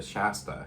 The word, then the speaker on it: Shasta: Shasta is how you say Shasta.